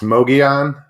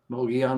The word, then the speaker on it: Mogollon: your your name your your channel name is pronounced it's mogeon monster mogeon monster i knew i was gonna butcher that